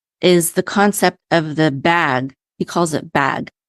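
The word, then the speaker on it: BHAG: came across Collins but he calls it bag it's and bag stands for what's it it's spelled b a BH a bag and it stands for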